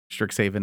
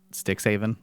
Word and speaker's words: Strixhaven: Stricks haven, not sticks haven.